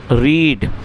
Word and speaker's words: read: लेकिन जब हम इसको हैड के साथ पढ़ेंगे इसका मतलब ये थर्ड फॉर्म है और थर्ड फॉर्म में दोस्तों इसको रेड पढ़ा जाएगा। तो यदि आप रीड को थर्ड फॉर्म के रूप में यूज़ करते हैं और इसको प्रोनाउंस करते हैं तो यहां जो इसकी प्रोनंसिएशन है वह होगी रेड।